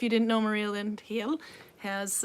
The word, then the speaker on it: Heel: If you didn't know, Maria Lind Heel has, it's spelled actually H-E-E-L like heel, but she's from Denmark.